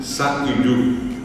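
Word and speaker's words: sa'yju: rato, es s a puso y j u sa yu.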